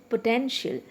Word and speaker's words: potential: Then potential. Potential. If you divide this word, potential. So the stress is on 10. That is the second syllable from the last.